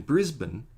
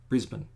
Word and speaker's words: Brisbane: And then Brisbane is Brisbane, even though it's spelled Brisbane. But if it was really Brisbane, there'd be an I in there. So we just say Brisbane. Again, it's with the bun.